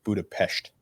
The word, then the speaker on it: Budapest: First and foremost, it's pronounced Budapest.